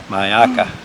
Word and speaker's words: Myakka: Maya mayaki how do you say it ayaka mayaka okay I'll try to say it that way